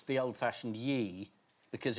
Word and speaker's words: Ye: Yeah.